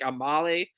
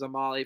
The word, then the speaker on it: Amale: i thought it was a molly forever too but it's a male a male i think it's pronounced exactly like a male so anyway she's the